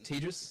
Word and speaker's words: Tejas: I'm Tejas. That's pronounced like contagious.